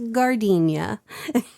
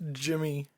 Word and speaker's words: Gardenia: Little Shop of Horrors, Gardenia. It's actually pronounced Jimmy.